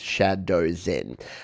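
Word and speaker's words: Shdwzen: in thank you they they spelled their name phonetically this is why i love this community because it's from shadows in and that's how they're spelled s-h-d-w-z-e-n but they know i'm a 40-year-old man that doesn't understand things so instead of me struggling through it they've actually wrote it phonetically it's shadow zen uh they said i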